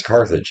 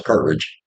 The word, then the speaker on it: Carthage: me but you know I'm like it's Carthage and they're like no it's carridge but uh okay nadaa